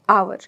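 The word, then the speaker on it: hour: जैसे मैंने लिखा यहाँ पर आवर. तो जो h है, h की साउंड क्या है?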